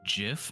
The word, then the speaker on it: GIF: you know you're saying you say it like GIF like the peanut butter that's how I say that's how that's how they say you're supposed to say it but that's not how we say it s s yeah that's